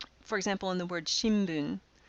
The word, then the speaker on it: shimbun: example in the word shimbun we don't say Shin Boon we say shimbun with an M sound likewise gimme brown rice